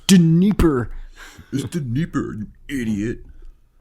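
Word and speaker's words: Dnieper: yeah i'll take them you mispronounce that guy's name it's de nipper is the neighbor an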